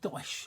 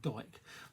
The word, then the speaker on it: Dyche: And, you know, Sean Dyche, I'm getting a lot of, I said Dyche, right, because somebody come, because I keep saying Sean Dyke.